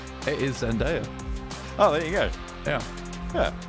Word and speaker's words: Zendaya: Just be quiet a sec whilst I listen to this pronunciation. It is Zendaya.